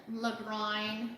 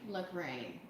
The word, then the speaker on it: Lagrein: Actually, there are 3 ways to pronounce it according to Google. Okay. Lagran, the all-knowing authority, right, on wine. Lagran, Lagrein, Lagrein. I call Okay. it Lagran.